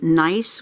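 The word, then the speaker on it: gneiss: and white stripes it's usually nice which is spelled g-n-e-i-s-s so that is probably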